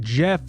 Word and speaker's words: Gef: important to mention that Jeff is spelled g f yes Jeff the talk